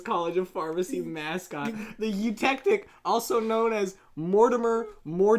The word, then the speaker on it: eutectic: then I look it up sure it's they spell it e u T E C T i C s what you to a eutectic eutectic yeah eutectic is a melting composition of minimum